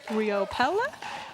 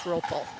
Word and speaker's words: Riopel: Riopella. We'll have to ask him how he pronounces that. I believe it's ropel. Rope. Oh, no kidding. I wouldn't have guessed that. I'm pretty sure.